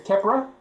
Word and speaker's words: ceapaire: Or sandwich is kepra, which is Ceapaire.